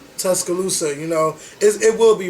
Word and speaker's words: Tuscaloosa: Tuscaloosa. Tuscaloosa, you know, it will be rebuilt.